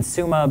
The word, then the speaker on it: Summa: and CEO at Summa we settled on the pronunciation sumo because if you say it the other way it sounds like we're saying I'm the CEO at some company or other but I don't I